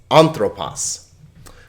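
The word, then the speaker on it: ἄνθρωπος: say right now that you'll notice that the syllable that has the accent over it will get the emphasis okay so it's anthropos well let's look at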